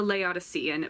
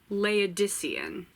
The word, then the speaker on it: Laodicean: Okay, and then the last audiobook that I got through was A Laodicean by Thomas Hardy. I said it wrong. Laodicean.